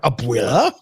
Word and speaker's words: abuela: hear what happened with uh aoc and her abuela is how you pronounce it abuela abuela so abuela's meaning is